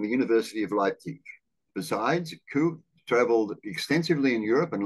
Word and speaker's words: Gu: the Chinese Communist Party G is pronounced like a k like kangaroo so G is co So Kong yes okay